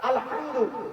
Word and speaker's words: আলহামদু: বাবারা, আলহামদু এই গলার ভিতর থেকে হেটা উচ্চারণ করবেন।